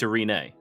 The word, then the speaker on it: Irini: know that name well he mispronounced it it's a renee uh a renee a renee uh that is actually